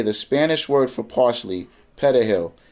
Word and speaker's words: perejil: To identify the Haitians, Trujillo ordered each person to say the Spanish word for parsley, perejil. If the person could properly roll the R in the word, they were assumed to be of Spanish and Dominican descent, non-black, non-Haitian, and were spared.